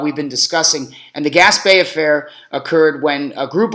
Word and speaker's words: Gaspee: Affair G A PE gas Bay as as in French for all you Frenchies out there uh you know um that with that extra e you get the accent on there the gas Bay Affair